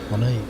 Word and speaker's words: Monet: You have to pronounce the last name like Monet. Monet.